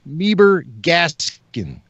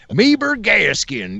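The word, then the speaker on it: Meebur Gascon: Meeber Gaskin. Yes, I put a little George W. Bush into my pronunciation of that name.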